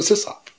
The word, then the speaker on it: sysop: We're not sysops. I mean, I never called it system operator. It's just, it's not a system operator. It's a sysop. Oh, by the way, I say sysop, not sysop.